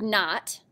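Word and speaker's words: knot: don't in the word not the k is silent and in the word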